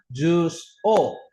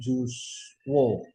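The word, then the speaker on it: を: Kalau bahasa Jepang, jus o. Nah, O-nya pakai hiragana wo, bukan pakai hiragana O. Ya, jadi dibacanya jus O, bukan jus wo.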